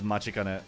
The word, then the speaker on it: Matikane: It is technically Matikane from the way they spell it, but how they say it is Machikane, so yeah.